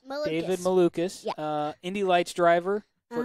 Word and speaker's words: Malukas: And I cannot remember how to pronounce his last name. Malukas. David Malukas.